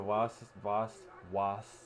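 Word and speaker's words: Wass: Sissoko, Vitolo from Madrid, Daniel Voss is on here. I keep pronouncing with a W. It's a V in their language.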